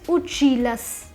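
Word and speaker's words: училась: So the pronunciation of the feminine form would be uchilas. Masculine form is uchilsya. The feminine form is uchilas.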